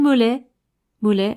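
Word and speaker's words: Maulet: Jeanne Mollet, alors pas pareil, hein, ça s'écrit pas pareil. C'est M-A-U-L-E-T.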